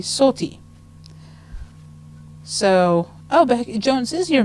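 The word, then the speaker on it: Sothy: it's spelled s-o-t-h-y and he'll answer to sophie but it's actually salty so oh jones is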